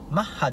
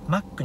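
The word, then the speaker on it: Mach: おもいますちなみにマッハいいの読み方ですが日本では発音がマッハではなくマックに近いためマッキーという愛称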